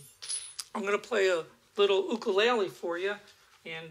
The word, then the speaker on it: ukulele: gonna play a little oka Laila for you and this is the way they pronounce it it's oka laylee I started playing Oakland